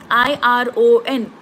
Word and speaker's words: iron: more example is Ion i r o n kabina iron R is silent Wednesday so Wednesday spelling